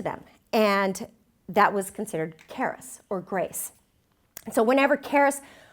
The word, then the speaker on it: charis: The Greek word for grace is charis. Might be pronounced charis. C-H-A-R-I-S.